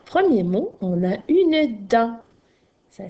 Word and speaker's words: dent: Alors, premier mot, on a une dent. Ça s'écrit D-E-N-T. Alors, un petit truc pour te rappeler qu'il y a un T muet à la fin du mot dent.